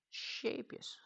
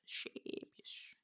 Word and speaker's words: Scheepjes: Not Shapeus, but Shapeus. That's correct. Shapeus. Fixed.